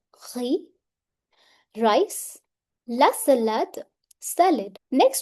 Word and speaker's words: riz: Le riz, last letter is silent. It's not riz, riz.